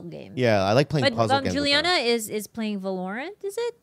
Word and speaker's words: Valorant: Valorant. Oh, wrong emphasis. Valorant? Is that how you say it? My dad says it all the time. But he says Valorant? Wrong emphasis. And a wrong syllable?